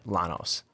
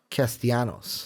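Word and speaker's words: Castellanos: giving Zack it's not you don't say the elves its Janos not Llanos castilla knows hey you said right okay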